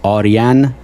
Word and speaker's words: Arian: pronounce the surname correctly so I'll say the correct uh Persian way it is orian wow I'm gonna like